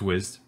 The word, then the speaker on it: Wized: it wrong the whole time it was called wise i go saying wise so it's pronounced wizzed and it was an awesome product and i